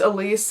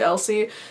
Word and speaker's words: Elsie: Everybody thinks it's Elise and it's actually Elsie.